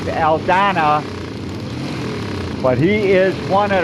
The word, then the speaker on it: Aldana: I believe that is Dave Alana. Now he pronounces his name Dave Aldana.